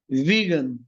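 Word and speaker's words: vegan: হয় তাদেরকে বলা হয় বলেন আমার সাথে ভিগান আবার ভেজান বইলেন না কিন্তু যে ভেজিটেরিয়ান না সেখান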